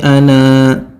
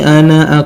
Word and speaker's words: أنا: Perhatikan ketika saya berhenti tadi, saya panjangkan nanya, in tarani ana. Ya, ketika saya wakafkan. Tapi kalau saya baca wasol, artinya saya sambung. Perhatikan bagaimana membacanya. In tarani ana aqalla minka malan wa walada. Ya, bisa diperhatikan tadi saya tidak membaca atau tidak memanjangkan nanya.